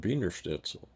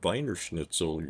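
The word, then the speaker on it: Wiener Schnitzel: two the trick is the two-letter combination EI is always pronounced I and I E is e so the second letter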